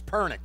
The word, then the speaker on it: Pernick: Yes, and as we were off the air, I was bombarded from 3 different people telling me it's Pernick, not Piernick. So everybody, I got it. It's Pernick.